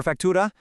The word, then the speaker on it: factura: For factura, try to get a little bit of a roll on that R.